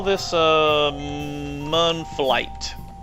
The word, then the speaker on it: Mun: let's call this uh mon flight i keep saying moon i guess you could pronounce it moon uh but it's m-u-n uh oh wait i've